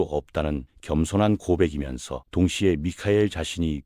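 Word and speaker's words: מיכאל: 히브리어로 미카엘이라고 발음되는 이 이름은 의문사 미와 비교의 전치사 카 그리고 하나님을 뜻하는 엘의 조합으로 이루어져 있거든요. 이는 그 어떤 존재도 하나님과 비교될 수 없다는 겸손한 고백이면서 동시에 미카엘 자신이 그 진리를 수호하는 전사임을 선언하는 것이기도 합니다.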